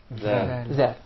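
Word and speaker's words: ذ: Zal. And we said, in the case of the letter Zal, you stick the tip of your tongue out right beneath the edges of the upper incisors.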